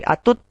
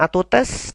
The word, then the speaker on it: à toutes: Jadi cara pengucapannya bukan atus lagi, tapi atut, bukan atutes, tapi atut, es-nya tidak dibaca.